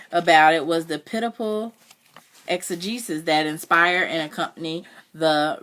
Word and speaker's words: exegesis: it means and I don't know how to pronounce it. Exegesis. Exegesis.